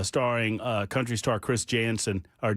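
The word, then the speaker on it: Janson: free show uh starring uh country star Chris Jansen or Jensen.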